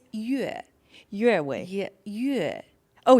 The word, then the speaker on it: Yue: And I'm like, what tone is it? Is it Yue? It's Yue. Yue Wei. Yeah, Yue. Oh, Yue.